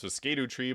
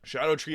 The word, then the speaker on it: Scadutree: I originally thought it was Scadutree, but Scadu is the Old English pronunciation of Shadow. So Scadutree Avatar, I personally don't think it's that hard.